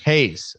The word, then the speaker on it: Heyes: right before we get going here get hay Hayes okay yeah great I can remember that I